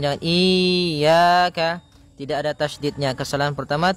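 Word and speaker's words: إِيَّاكَ: ini hati-hati dalam pelafalannya ada dua kesalahan yang sering terjadi yang pertama yaitu dia memanjangkan Iya nah seperti itu harusnya dia ee ditekan dan dilembutkan iaka iaka nah kemudian jangan sampai dibaca panjang jangan iaka tidak ada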